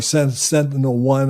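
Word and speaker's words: SentinelOne: you've got prose Holdings sent alone or Sentinel one I guess it would be pronounced you got sap a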